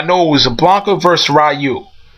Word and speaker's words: Ryu: it was a Blanca rayu Ryu rayu whatever I like to say Ryu but I say I'm so used to saying rayu but I'm not here